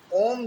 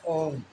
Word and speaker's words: ॐ: सीधा कह देते हैं लेकिन ॐ का शुद्ध उच्चारण इस प्रकार कि हो ओम अजय को कि